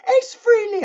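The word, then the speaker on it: Frehley: think even Paul Stanley said ace fre lead Ace Freely I've heard I've heard them all say Ace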